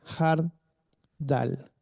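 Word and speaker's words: חרדל: Elohim, y la mostaza en hebreo se dice hard dal. Sí, eso también se escribe como mustum, que significa mosto.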